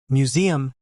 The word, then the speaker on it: museum: Museum is simpler slash mjuzi.m slash. Stress on the second syllable.